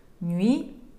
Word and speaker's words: Nuit: Nuit de Bakelite, Nuit, буква Т, не произносится.